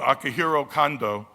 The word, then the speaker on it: Akihiro Kondo: making his US debut I pronounce his name earlier incorrectly because I was thinking of my good friend Akihito Honda who's like the king of boxing in Japan everyone knows mr. Honda but Akihiro condo is an accomplished writer